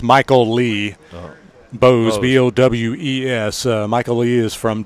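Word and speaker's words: Bowes: It's spelled Michael, as Michael would be with E-E, so it's Michael Lee. Bose, B-O-W-E-S.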